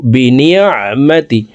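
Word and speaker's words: بِنِعْمَةِ: সঙ্গে বলার চেষ্টা করুন আইন হরফকে হলুকের মধ্যখান থেকে উচ্চারণ করব বিনিমাতি নন আইন নিমাবিনিমাতি রববিকাফাহাদিস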